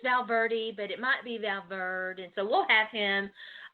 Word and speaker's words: Valverde: been saying your name right how is it pronounced um my last name is Valverde said got it right once and then then